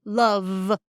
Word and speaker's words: love: that's a problem because this is not an F it's a V and I want a v sound so make it like